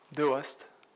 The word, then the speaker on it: Dewaest: De West. Vous prononcez pas le E en fait.